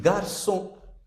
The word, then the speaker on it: garçon: This is C with cedilla, and its pronunciation is S. Like if you write the word, this is pronounced like garçon.